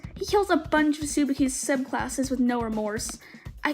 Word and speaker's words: Tsubaki: In the first few episodes, he kills a bunch of Tsubaki's subclasses with no remorse.